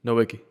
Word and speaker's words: Nowicki: valena oh there's how you pronouncing i'm sorry no wiki no wiki there's nowicki there's matthew brent oh